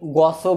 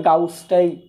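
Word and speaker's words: Gauss: হ্যাঁ, কেউ কেউ গসও বলতে পারে, তবে গাউসটাই মানে অ্যাকুরেট আর কি, বুঝছো, উচ্চারণ। আমি অনেক ইয়েতে দেখছি, ইংলিশ মিডিয়ামের যারা ক্লাস নেয় কেউ কেউ গস বলে, আমি জানি না, আমরা বাংলাদেশে বেশিরভাগই সবাই গাউস বলি আর কি।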